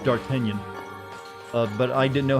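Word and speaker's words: d'Artagnan: no it's you know the french name is pronounced dark kenyan uh but i didn't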